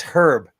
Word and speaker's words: Herb: While you're doing that, real quick, Mark's saying, how do you pronounce Herb Albert in the Tijuana? Exactly that. It's Herb. It's Herb.